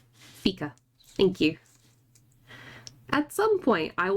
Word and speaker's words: fika: Is how you pronounce it. Fika. Fika.